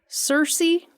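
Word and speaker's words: Searcy: for Harding University in Cersei Arkansas I think is how that's pronounced okay Cersei Arkansas best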